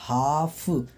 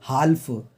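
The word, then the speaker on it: half: तो हम क्या बोल रहे हैं, हाफ, हम यूं नहीं बोल रहे हैं हाल्फ, हम क्या बोल रहे हैं, हाफ। तो यहाँ पे एल क्या है, साइलेंट है, मतलब एल को बोला नहीं जा रहा है, तो हमारा हो जाएगा आंसर सी वाला।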